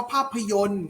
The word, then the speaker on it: ภาพยนตร์: คำ ว่า ภาพยนตร์ ครับ ภาพยนตร์ จะ ใช้ ตัว ตร. นะ ครับ ตร. นะ ครับ โดย เรา จะ ไม่ ออก เสียง ต่อ รอ นะ ครับ เรา จะ ออก เสียง เท่ห์ โยม น้อง ยนต์ นะ ครับ เข้า มา คำ ว่า